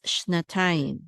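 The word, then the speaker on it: שנתיים: Quickly, it's shnatayim, shnatayim.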